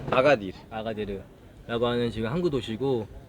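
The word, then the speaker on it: Agadir: 정확히 아게디르인가? 발음이? 아가딜.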